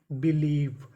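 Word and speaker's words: believe: अगर आपको इंग्लिश की किसी भी मीनिंग के आखिरी में ई लिखा मिले तो हम लोग ई का उच्चारण नहीं करते, हम लोग ई से पहले तक का उच्चारण करते हैं।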